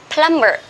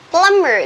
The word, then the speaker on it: plumber: not be here we we write the word be here but we don't spell but sorry but we don't pronounce plumber we say plum plumber plumber that means um the